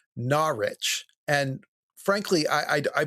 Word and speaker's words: Norwich: He also, you know, I was talking about one of the saints are from uh I said Norwich and he corrected me. It's actually Narich and frankly I I